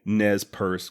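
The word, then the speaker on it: Nez Perce: need to know is if i'm pronouncing nez purse correctly she replied again saying that yes i was i then asked if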